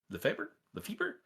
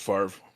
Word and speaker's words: Lefebvre: Lefebvre? I believe it's pronounced Favre. Is not Favre.